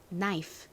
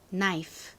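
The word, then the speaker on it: knife: 처음 보이는이 단어 뜻이 뭐였죠 여러분 바로 칼입니다 발음은 따라해 보세요 나이프 나이프 좋습니다 두 번째이 단어는 의미가 모였을까요 기억나시나요 알다라는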